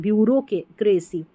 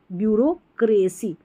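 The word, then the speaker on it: bureaucracy: बड़ी spelling ब्यूरो ब्यूरो यहां पर आर ई ब्यूरो में देखिए आर के बाद जो इ है ना इसका तो उच्चारण हो ही नहीं रहा और वैसे भी ब्यूरोक्रेसी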